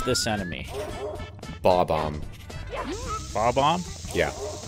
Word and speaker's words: Bob-omb: Bob-omb. Bob-omb? Yeah. Like. Not like Bob-omb. Bob. Yeah, me neither. It's always been Bob. It's been Bom-Om, which is even more wrong, but that's how I say it.